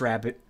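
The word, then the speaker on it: rarebit: Rare bit. But I believe it's pronounced rabbit.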